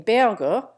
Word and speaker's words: Berger: Often in Berger, the G becomes soft and the name rhymes with verdure.